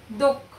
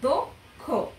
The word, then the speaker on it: দক্ষ: ব্যঞ্জন বর্ণ থাকলে সে অ এর উচ্চারণ সাধারণত কিসের মতো হবে ও এর মতো হবে যেমন দক্ষ হ্যাঁ এখানে দয়ের সাথে অ আদ্য অ উচ্চারিত হচ্ছে কিভাবে দক্ষ হ্যাঁ আবার ক আর